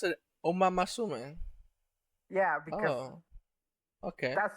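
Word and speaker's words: Uma Musume: Like it's the correct way to say it because that's the Japanese way to say it, but no. uh is it really? Are you supposed to pronounce it Oma Masume?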